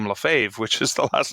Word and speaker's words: Lefebvre: my middle name because most people cannot pronounce the name LaFave which is the last